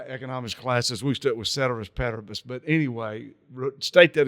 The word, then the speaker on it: ceteris: economist, I know that you know the Latin term ceteris paribus. Did I pronounce that correctly? Give or take, yep. For my East Texas Some people put a hard C on there.